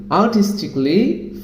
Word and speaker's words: artistically: Kelly, it should be cli, that means romantically, musically, logically, artistically, physically, critically.